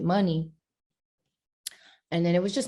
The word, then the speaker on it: Muni: was like that's dope you should pronounce it money and then it was